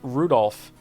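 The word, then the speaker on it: Rudolf: on it's just anyway this guy's name is pronounced Rudolph haha he must hate grandfather for giving him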